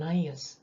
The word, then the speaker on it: Ananias: " 아나니아 " 라고 발음 합니다 .